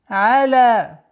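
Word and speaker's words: على: Аля. Из распространенных ошибок аля, аля. Твердое произношение айна и ляма является ошибочным произношением, а правильное произношение аля. Лям мягкое, айн мягкое. Аля.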